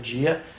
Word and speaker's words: dia: And once again, if the students were to go to Brazil and speak correct Portuguese but say dia instead of gia to an American who